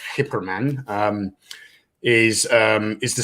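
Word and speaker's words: Geyperman: guy per man accessories that guy per man for those of you who don't know is actually pronounced hyperman um is um is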